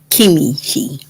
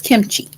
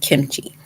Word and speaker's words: kimchi: called kimchi it's not kimi ki it's kimchi so that's just a title it's not kim is not kimichi it's kimchi easy peasy um maybe you